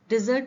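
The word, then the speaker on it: dessert: डिजर्ट, डिजर्ट means मिठाई. इसका pronunciation होता है डिजर्ट.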